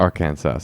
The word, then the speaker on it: Arkansas: That's how you pronounce it. Arkansas.